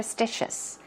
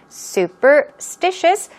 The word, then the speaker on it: superstitious: you could be super superstitious okay superstitious stress goes right there on the third syllable let's do it two